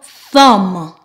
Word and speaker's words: thumb: So in the words I will present, we will only pronounce the M, mm.